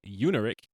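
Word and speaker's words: Iungerich: It's created by Lauren Unerick. I looked up how to say her name because it's not spelled how it sounds. Eddie Gonzalez and Jeremy Haft.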